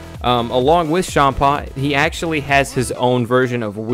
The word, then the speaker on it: Champa: c h n PA but it's spelled like or it's said like with an sh like instead of Champa shampa um he essentially looks